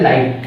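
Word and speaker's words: light: टी के लिए टा, जीएच जो है हमेशा साइलेंट होता है।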